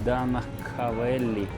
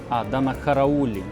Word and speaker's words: Данахараулі: точки зору сміливо, тому що воно навіть не читається. Нцване і Данахавеллі. Данахараулі.